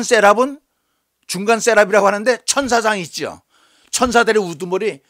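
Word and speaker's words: seraph: 그 다음에 스랍이라고 그랬는데 한글 성경에는 스랍이라고 그랬는데 영어에는요 셋업이라고 이 발음을 해요.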